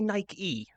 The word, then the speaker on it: Nike: It's it's saying we we don't say Nike. It's night.